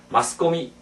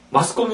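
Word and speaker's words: マスコミ: 딱 오른쪽에 보시면, 매스컴을, 그럼 일본 사람들은 뭐라고 할 것이냐. 마스코미, 이렇게 하잖아요. 근데 우리는 마스코미 하면 무슨 소리인지 모르고, 또 일본에 가서 우리가 매스컴 하면 일본 사람들은 못 알아듣습니다. 매스컴이 뭘까? 전혀 못 알아들어요. 마스코미 해야 알아듣습니다.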